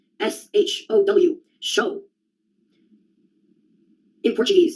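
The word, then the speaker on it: xodó: S H O W. Show. In Portuguese, there's a word show. It's spelled X O D O with an accent on the last O.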